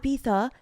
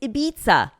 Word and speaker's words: Ibiza: And they're like, it's not Ibiza, it's Ibiza.